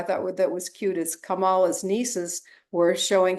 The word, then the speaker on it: Kamala: GNC too I thought that was cute is kamala's nieces were showing how to pronounce her name Kamala you know so um